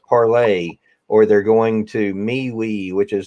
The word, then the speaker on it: Parler: People are running from Facebook, going to Parler, which I hear is pronounced parlay, or they're going to MeWe, which is the competitor to Facebook, supposedly, and all of that.